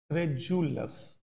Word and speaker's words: credulous: And it should be spoken as credulous. Spelling mein D hai, but the sound will be of J, credulous.